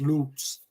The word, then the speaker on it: Luts: yeah not pooper says Luts is pronounced loots um Phantom says all